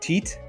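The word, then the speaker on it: tyet: for you it says the tit symbol pronounced teat oh excuse me illustrates a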